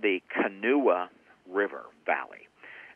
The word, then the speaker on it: Kanawha: what is called the canoe river valley it's spelled like kanawha k-a-n-a-w-h-a but it's pronounced kanua that area is extremely